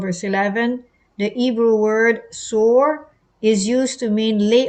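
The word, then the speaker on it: סור: 5493, taken away, as used in Daniel 11 and 12, pronounced sore, means to turn aside, to remove, leave undone, lay away.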